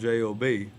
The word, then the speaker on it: Job: Job is spelled J-O-B. I'm talking about Job.